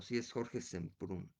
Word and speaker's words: Semprún: Este, déjenme, no quiero que quede aquí mal pronunciado el nombre que acabo de decir de Jorge. No, sí es Jorge Semprún. ¿Está bien? Sí, está bien.